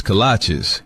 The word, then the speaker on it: kolache: What's a colache? Oh, cola cheese? Colache? Kolaches? Kolache? Like the shoes? No, that can't be right. It's kolache, but it don't matter what